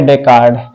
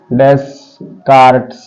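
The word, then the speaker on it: Descartes: तो इसका पिता है रेने डेकार्ड, ठीक, रेने डेकार्ड, डेस्कार्ट्स, एस साइलेंट है, ठीक, इतना रेने डेकार्ड हो रहा है, डेकार्ड, ठीक, रेने डेकार्ड, ये इसका फादर है, ठीक है।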